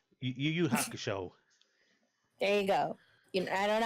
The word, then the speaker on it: Yu Yu Hakusho: It's okay if you can't pronounce it. It's fine. It's Yu Yu Hakusho. It's very easy to say. Yu Yu Hakusho.